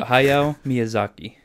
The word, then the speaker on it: Hayao Miyazaki: Hayao Miyazaki? Lapuda. No, Hayao Miyazaki.